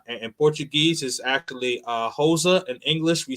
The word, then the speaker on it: Rosa: Portuguese is actually uh HOSA in English we say Rosa so uh what I do know is that uh Portuguese the r's are pronounced like H's so uh I'm learning